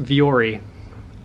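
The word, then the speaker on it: Vuori: donating all of it that's pronounced viori they make way upscale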